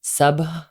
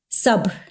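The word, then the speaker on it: sabr: remember learning about ramadan and finding this word sub it's spelled s-a-b-r sub which means patience and gratitude and one of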